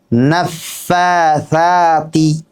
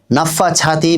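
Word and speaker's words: النفاثات: ওয়ামিনশারিন মাশাল্লাহ এবার বলুন নাফফাতি জি নাফাছাতি বলবেন না নাফাছাতি এবার এভাবে হবে না নরমভাবে বলতে হবে নাফফাতি জিবার আগায় আপনার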